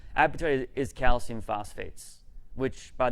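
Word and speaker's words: apatite: being hungry etc but appetite is spelled a-p-a-t-i-t-e appetite is calcium phosphates which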